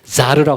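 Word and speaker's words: זר: 이 다른이라는 단어가 히브리어로 제가 먼저 평신도 분들도 계신 것 같으니까 한글로 써드리면 자르라고 합니다.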